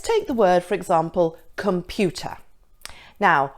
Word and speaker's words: computer: Let's take the word, for example, computer. Now, which is the stressed syllable? It's pew, isn't it? Computer.